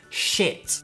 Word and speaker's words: shit: And the pronunciation is sheet. Y la otra palabra es shit. Shit. So sheet and shit. Can you hear the difference? Sheet and shit. Shit es muy cortita la vocal.